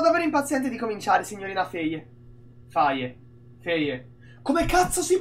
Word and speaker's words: Faye: Sono davvero impaziente di cominciare, signorina Faye. Faye. Faye. Come cazzo si pronuncia Faye?